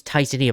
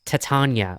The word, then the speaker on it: Titania: Amber believe or not I used to think it was Titania but apparently it's Titania like you know the queen of the fairies someone actually had to say say how you pronounce the name and someone just gave me a very crude way of saying it like just replace the I just replace the I with an with the A and put and put an